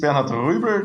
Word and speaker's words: Bernhard: Well, my name is Benard. That's the correct way to pronounce it.